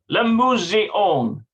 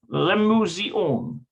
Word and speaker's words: למוזיאון: Lemuseon. That's how you pronounce it. התלמידים הולכים למוזיאון. Yeah, Lemuseon.